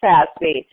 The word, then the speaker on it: FASB: The Financial Accounting Standards Board, always pronounced Fazby, but Fazby formulates GAP.